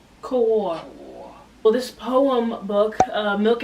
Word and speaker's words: Kaur: We are looking at how to pronounce this name. Kaur.